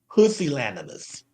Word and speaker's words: pusillanimous: It's actually pronounced pusillanimous.